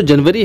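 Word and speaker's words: January: जनवरी आप इसको देख सकते हैं, स्पेलिंग पहला जे है, फिर एन यू है यानी कि जैनु, उसके बाद में ए आर वाई अरी, जैनु अरी यानी कि जनवरी।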